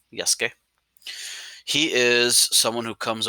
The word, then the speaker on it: Yasuke: So the U is silent in his name, Yasuke.